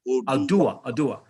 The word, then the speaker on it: Oduwa: I've listened to a few of the videos on how do you pronounce it? Oduwa coin. Oduwa.